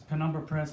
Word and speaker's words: Penumbra Press: Penumbra Press is correct, by the way. That is the pronunciation.